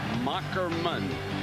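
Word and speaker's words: Moherman: the name is pronounced mockerman as he explained to us that's old German with the H is a k 63 215 lbs completed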